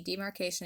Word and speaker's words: demarcation: As you can see, demarcation is 4 syllables, not 2, so Dwight ends up looking pretty ridiculous.